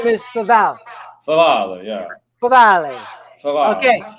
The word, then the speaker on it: Favale: So we have here, and if I'm saying Wow, this right, you pronounced it correctly. You're the first one. Favale.